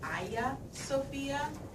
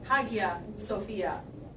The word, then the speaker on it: Hagia Sophia: the holy wisdom and you will hear it pronounced Aya Sofia Sofia and Hagia Sophia Sophia means wisdom by